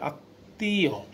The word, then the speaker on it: আত্মীয়: আত্মীয়, এই দেখো মধ্যে তো আছে, তার সাথে ম ফলা, তাহলে ত উচ্চারণ দুইবার পাচ্ছি।